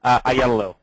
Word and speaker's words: Aiello: We have Taj Morton, who's our volunteer coordinator, and Lorenzo, is it Aiello? Is that how you pronounce it? Oh, you caught me here drinking. Aiello. Aiello, thank you, Lorenzo.